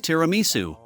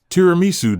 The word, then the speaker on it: tiramisu: The sweet dessert we've prepared to go with today's coffee is tiramisu. Just looking at it makes me want to eat it. The correct Italian pronunciation is dramu.